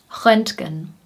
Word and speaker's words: Röntgen: Röntgen, Röntgen.